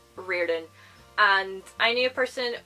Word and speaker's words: Riordan: pronounced Rick's surname as Riordan. It is Irish. I am Irish, and so this is the way that we pronounce his surname, Riordan.